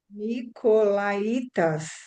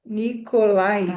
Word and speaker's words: Nicolaítas: Nicolaítas. Nicolá e acento no itas. Nicolaitas.